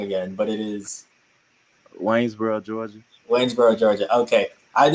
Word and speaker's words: Waynesboro: can you go and tell me decide to pronounce your hometown i don't want to say it wrong again but it is waynesboro georgia waynesboro georgia okay i'd extend the range